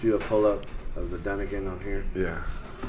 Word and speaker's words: Dunnigan: Did you see Kyle Gunnigan? How you say his name? Dunnigan.